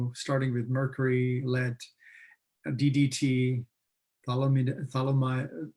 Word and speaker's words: thalidomide: research causing problems, starting with mercury, lead, DDT, thalidomide, how do you pronounce it, that drug name?